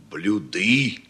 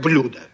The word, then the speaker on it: блюдо: других Учите блюда А что надо говорить блюды блюды очень хорошо Поздравляю Я так и думал Друзья мои вы меня просто удивляете Честное слово почему Ну неужели вы не поняли что я нарочно переставил ударение чтобы вы увидели сразу как изменяю грамотные люди конечно говорят блюдо А вот теперь Ответьте